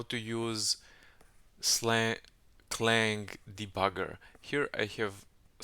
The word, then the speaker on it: clang: will check the lldb version and I need slang C plus plus clang C plus plus version God damn I pronounce it wrong every time anyway I need